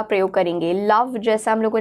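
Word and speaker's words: lavage: लैविज या लवाज इसे प्रोनाउंस किया जाता है, इसका अर्थ होता है वॉशिंग और बेदिंग ऑफ एन ऑर्गन.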